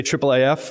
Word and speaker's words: IIIF: international image interoperability framework so because that's a lot of words and a lot of syllables we say triple AF I've really enjoyed in